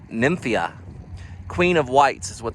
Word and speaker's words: Nymphaea: whites hardy water lily i'm gonna pronounce it as nymphia queen of whites is